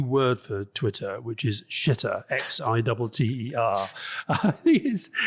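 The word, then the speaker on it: Xitter: But I think he's got this new word for Twitter, which is shitter, X-I-T-T-E-R. I think it's pretty good, that X. Is that how you pronounce X-I-T-T-E-R?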